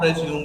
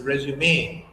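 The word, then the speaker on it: résumé: Okay, that is called accent in French, and that's why the sound differs as A. If the line doesn't come on E, then it is resume.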